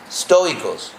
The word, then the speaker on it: estoicos: llamaban en español sería estoicos. ¿Cómo se dice? Estoicos, sí. En español, ST requiere un E.